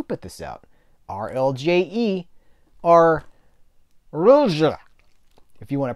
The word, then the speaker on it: RLJE: And it's not J-E. You don't say the J-E is J. You say it uses a J, like it's French. J. Rulje.